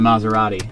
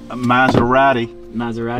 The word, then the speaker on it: Maserati: It's my first time driving a Maserati. There you go, man. How do you say that? Maserati. No, we call it a Maserati. Maserati. Because we pronounce our T's in the UK.